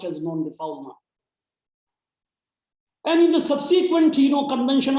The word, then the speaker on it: non-refoulement: Non-refoulement is a French term. It is pronounced as per the French pronunciation, but it is written in English as non-refoulement, but it is pronounced as non-refoulement.